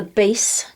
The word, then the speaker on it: bass: curvy thing at the beginning it's called a base clef b-a-s-s i know sometimes it pronounced bass like when it's referring to fish